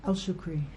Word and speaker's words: Al Shukri: Um, but how do you say your last name? Shukri. Elshukri. El Shukri. Yeah.